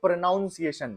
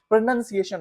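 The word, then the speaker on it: pronunciation: देर knowledge अ और कुछ लोग तो प्रोनंसिएशन को भी गलत प्रोनाउंस करते हैं वो बोलते हैं प्रोनाउंस एशन ये भी गलत होता है प्रोनंसिएशन हो होता है तो आपको अपनी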